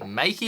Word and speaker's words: Meike: I was saying Mica before, but it's actually Meike apparently, because the actual people at Meike emailed me and they were like, it's not Mica, it's Meike. This is how you say it.